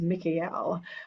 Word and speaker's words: Michael: The pronunciation that I'm guided to use is Miel. Um because you hear the L vibration in there.